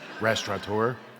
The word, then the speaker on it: restaurateur: And just to make it extra difficult for us, they went and took the N out of the word, restaurateur, so it's impossible to pronounce.